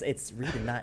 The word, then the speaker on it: Reedon: It's Reedon, not Redden, which everyone in my real life just does it by accident the first time.